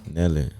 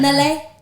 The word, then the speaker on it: Nellé: How you say my name? Nelle. It's the accent, Mr. Nelle.